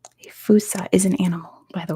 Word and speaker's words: fossa: A fossa is an animal, by the way, so it's not humans. How do you spell that? It is Fossa. It's Malagasy, so it's pronounced way different from how it's spelled.